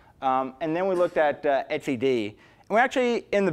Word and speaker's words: etcd: So we looked at surf, we looked at console, we looked at, you pronounce it etcd, right? OK, that's the way I've always pronounced it.